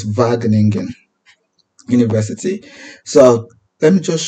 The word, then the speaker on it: Wageningen: University by the way the W is pronounced as V so it's vagan University so let me